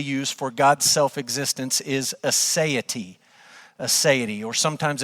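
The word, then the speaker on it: aseity: The theological term that we would actually use for God's self-existence is assay. Assay or sometimes it's it's pronounced God's asset. And so when we talk about God's assay or God's assity, it's a Latin word that literally means from himself.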